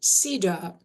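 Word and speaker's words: CEDAW: The acronym is comprised of the letters C, E, D, A, W. Convention, elimination, discrimination against women. It's pronounced CIDA.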